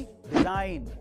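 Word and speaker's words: design: Number three, अगर किसी word में एन से पहले जी आए तो उसमें जी साइलेंट रहता है, जैसे कि डिजाइन, साइन।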